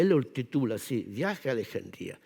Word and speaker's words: Alejandría: Alejandría y me dice Tú eres el único que pronuncia Alejandría Porque todos los españoles decimos alejandria pero in le ha puesto el ascento para hacer algo poco de su Yo pensaba que se decía Alejandría también no así que